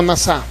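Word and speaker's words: נָסָה: Es una palabra que se puede pronunciar o se escribe como nasá.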